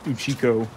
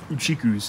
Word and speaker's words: Uchiko: I cannot call it Uchikus anymore. Our awesome adventure is coming to an end. But there's one final meal. What? One final meal? What could be better than Uchiko?